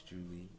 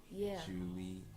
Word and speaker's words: Juli: So that's Juli, spelled like July with the I. Yep. But it's Juli. Remember that if anybody works at Buffalo Wild Wings and they're taking the order, it's Juli with the I.